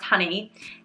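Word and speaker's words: hynni: part of it and the honey pronounced honey h-y-n-n-i is the welsh word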